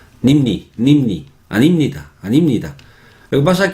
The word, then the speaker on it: 아닙니다: Pero 아닙니다, no, 아닙니다, no se pronuncia así. 저는 학생이 아닙니다, 아닙니다, 아닙니다. Nimni, nimni, nimni, animnida.